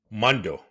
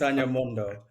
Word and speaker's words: Mondoh: we're delighted to have our guest s Mondo did I pronounce it right yes you did ran s Mondo great amazing who is the founder and CEO